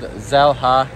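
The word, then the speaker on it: Xel-Há: morning and the name of it is called zela it's spelled x e l ha and uh we're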